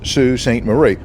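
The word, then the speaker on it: Sault Ste. Marie: and I asked a local lady how it's pronounced she told me that it's Sue St Marie well I'll be darn never let it be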